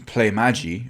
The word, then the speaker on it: Playmaji: behind this whole situation play magi i think that's how you pronounce it at least anyway their